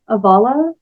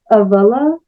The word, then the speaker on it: avala: is this idea of, I pronounce it like avala, and I think it's also avala, if you go by the pronunciation laid out in the book 1 of the Eastminster Library, which is the scripture